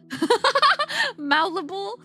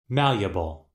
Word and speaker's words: malleable: Malibable. Wait, is that how you say it? I was saying, wait, hold on. How do you say it? Hold on, hold on, hold on. Malleable. I was saying it wrong.